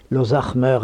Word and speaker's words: Lozac'hmeur: oui et bien j'ai un nom breton l'osakmeur prononcé à la française l'zach Meur à la bretonne qui veut dire le